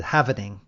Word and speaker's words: halving: I thought it had more halvings, but or halvings. That would be correct. There's 2 pronunciations. I usually say halving because it's half, but I've heard this Tim Draper, who's a billionaire, he said halvening.